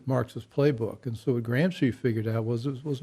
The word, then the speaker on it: Gramsci: this is a guy there's an italian theorist gramsci yeah yep i think i pronounced it that is correct yeah anyway he